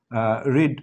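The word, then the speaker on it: read: এরপর আমরা 6 নম্বর কোয়েশ্চেনটা দেখছি, what did দ্য হেড teacher রিড আউট, তো রিডের আসলে V2 V3 সবগুলো একই, জাস্ট পাসফর্মে গিয়ে রেড উচ্চারণ হয়, এখানে ডিড যখন উঠে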